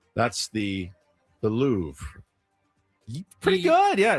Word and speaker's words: Louvre: That's the the Louvre. Pretty good. Yeah, it's the Louvre. The Louvre. There's almost a at the end but not quite a The Louvre.